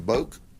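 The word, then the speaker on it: Boek: Boak, B-O-E-K. That's Polk County pronunciation. All right. So I'm gonna go with that is subject to modification by someone who may have a different interpretation being the family, but we call him Boak.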